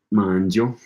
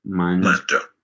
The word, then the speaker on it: mangio: So that I is silent there too. Gotcha. Io mangio. There's a silent I in mangio and a silent I in cioccolato.